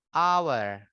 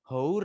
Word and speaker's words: hour: Bacanya hour. Hour. Jadi bukan hour ya, tapi hour.